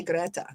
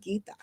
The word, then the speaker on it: Gita: I said it right this time. I didn't say Greta. I said Gita.